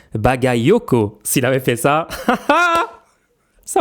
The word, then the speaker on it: Bagayoko: fait le truc de corriger la prononciation à chaque fois dire Bagaoko s'il avait fait ça ça aurait été magnifique.